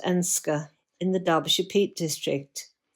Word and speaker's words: Edenscar: Ash is based in Eden Scar pronounced Enska in the Darbashet district.